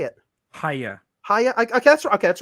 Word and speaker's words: Hiya: actually still not sure how to say it hiya hiya okay that's okay that's what I thought